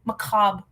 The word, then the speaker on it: macabre: Macabre, sorry. I always pronounce the r.